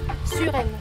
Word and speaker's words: Suresnes: Ah, Suresnes. Villa de Suresnes. Sí, no pronuncia, esta se pronuncia U, no U, y esta no se pronuncia. Es como así. Y esta tampoco.